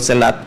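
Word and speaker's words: Selah: Oiga, no solamente después de leerlo, y a mí me encantan los salmos, porque el salmo dice selat, es una palabra, bueno, así la pronuncio en español, selat.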